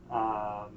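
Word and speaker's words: Tarbhfheis: And it's called the Tarvesh, Tarvesh, pronounced just like it's spelled, which means roughly bull feast.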